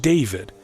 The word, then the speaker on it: D4vd: Known professionally as D4 VD pronounced David, he emerged from the world of social media